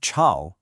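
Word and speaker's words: 吵: The word chao means noisy, but if you just change that dipping and rising tone to one that only rises, it becomes chao, and that means humid.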